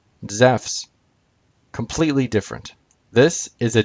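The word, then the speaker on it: Ζεύς: in english characters but the greek word e soos and the name zeus in greek zeff's completely different this is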